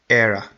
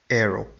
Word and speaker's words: era: For example, this is era, era, era. It is not arrow.